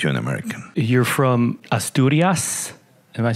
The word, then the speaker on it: Asturias: You're from Asturias. Am I pronouncing it right? Yeah, Asturias.